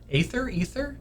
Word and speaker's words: Aether: Aether? I think it's spelled Aether and pronounced Ether.